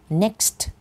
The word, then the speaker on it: next: next Monday next Monday คำ ว่า next อย่า ลืม ออก เสียง ST ด้วย นะ คะ next Monday ถ้า เรา จะ